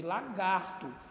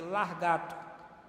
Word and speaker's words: lagarto: e se você observar lagartixa vem de lagarto mas é muito comum as pessoas trocaram dizer largato é muito comum essa